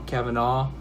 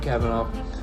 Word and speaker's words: Kavanaugh: I'm just gonna say Kavanaugh, like caviar, but without the R part. You know, Kavanaugh. Anyways, so I want to talk a little bit about Brett Kavanaugh.